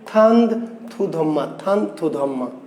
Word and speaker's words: থানথুধম্মা: রাজার নাম ছিল চন্দ্র সুধর্মা, কিন্তু আরাকানিজ ভাষায় এই চন্দ্র সুধর্মা কি এই চন্দ্র সুধর্মাকে আরাকানি ভাষায় বলা হয় কি, উচ্চারণ হচ্ছে থানথুধম্মা।